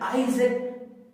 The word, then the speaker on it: Isaac: ठीक है, आप कई बच्चे इसको इसाक बोलते हैं। ठीक है, अपनी अपनी प्रोनाउंसिएशन हो सकती है सब बच्चों की, लेकिन आज आपने इस वीडियो से इसकी राइट प्रोनाउंसिएशन सीखनी है। उसके बाद नेक्स्ट देखिए नाम में, ठीक है, ASIMOV। इसको ध्यान से सुने, लिखा है जैसा वैसा नहीं है, इसाक नहीं है, आइजैक।